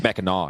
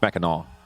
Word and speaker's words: Mackinac: It's Mackinac, actually. What? It's Mackinac. That's how they say it up there. What? Yeah, it's not Mackinac. It's Because the Mackinac. town of Mackinac City is up here. It's got a C on the end.